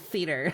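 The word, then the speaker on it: Scedar: So, it's spelled with an extra S, but the S is silent.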